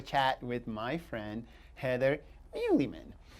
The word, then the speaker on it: Meuleman: Today, we get to have a chat with my friend, Heather Meuleman. I said it right this time. No, fudge. It's okay. Most people say it Meuleman.